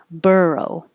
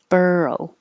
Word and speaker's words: burrow: like an o but sounds like er burrow burrow this looks like an